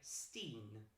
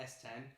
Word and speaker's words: S10: son eight the Netherlands they are pronounced by the way Steen I think it's pronounced Ste yes is yes Ste not S10 Steen and song's called Dead